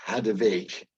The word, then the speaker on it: Hadewijch: published of the grand amazing Sublime work of hadovic which is how you pronounce it of Antwerp which is having the